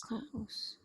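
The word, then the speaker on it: coquus: And cocuus is 3 syllables. Cocuus.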